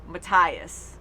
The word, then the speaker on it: Matthias: it is but it's he pronounced it mattias or maybe it's matty if i wrote matthias when he introduced himself he said mattias but yeah so i